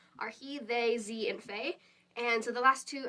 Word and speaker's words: fae: And so the last two, you pronounce the first one, fey fair, and so it's FAE/FAER.